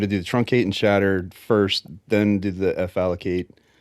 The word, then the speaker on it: chattr: do that truncate and CHATTR command. I pronounce it chatter. Do that. Yeah, you got to do the truncate and shatter first, then do the fallocate, and then the chmod, make swap on.